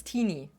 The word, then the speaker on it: Teeny: is tiny to whatever, it's teeny. Like martini, but without the mar, I guess.